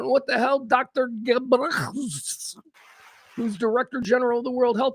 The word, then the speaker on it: Ghebreyesus: All right, I don't know what name that is, but Tedros Adhanom Ghebreyesus. I'm going to pronounce it like that. All right, so we'll call him Dr. Ghebreyesus.